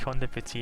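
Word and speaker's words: Conde Petie: I think Conde Petit is how you say it because it's like French inspired.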